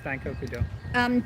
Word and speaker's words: Daikokudo: This is made by Mikawa Daikokudo. Is that correct? Daikokudo? Where? My pronunciation is abysmal. Yeah, it's Daikokudo. This one contains egg, wheat, soybeans, and milk, but it is vegetarian friendly.